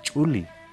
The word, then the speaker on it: chuli: Ahí viene más abajo los, en castellano decimos los zulis, por ejemplo, pero en realidad la pronunciación correcta es chuli o chili.